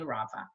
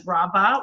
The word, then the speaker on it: Rava: I know since Encino they pronounced raava as raba which isn't correcting and I remember rabbi